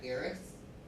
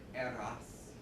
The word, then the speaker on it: Eros: My mom here, but quite recently, this is our cat Eris. Well, let me pronounce that correctly. Eros, like chaos.